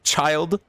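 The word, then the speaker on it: Childe: how you say that it's not chill day it's child that's that's way less cool what so we're supposed to dote on you yes silent e that's stupid chill day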